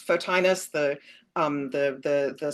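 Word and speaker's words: Photinus: Um, there is a technical word in here called, and I'm probably mispronouncing it, so you're the Latin, but it's fotinus, the um the the the scientific word for firefly.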